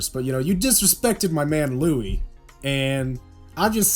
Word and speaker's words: Louis: Well, no, it's spelled Louis, but the S is silent.